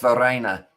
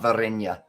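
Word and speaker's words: Verreynne: one the reina okay it's varina not virenya okay varena we'll call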